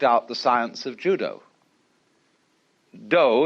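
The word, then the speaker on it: 道: the science of Judo do is the way the Japanese pronounced da Jew means gentle Judo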